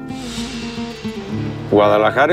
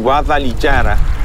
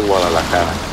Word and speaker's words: Guadalajara: fueron sus orígenes Guadalajara es una palabra árabe que si no se pronuncia bien tiene consecuencias funestas para su significado si nos quedamos con la pronunciación guadalichara Entonces es río que corre entre pedrusco en honor a la